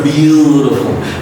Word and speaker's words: beautiful: This T is the glottal T, again, is a D sound, because before T and after T, there are two vowel sounds, so you don't pronounce this T as a soft D sound. It sounds great. It's one rule, one law in pronouncing the letter T as a D sound, so it sounds like a beautiful.